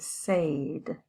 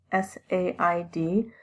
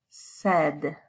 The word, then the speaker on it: said: say that past tense s-a-i-d the pronunciation is said said so this a i it actually sounds a lot more like an e this short e sound said say said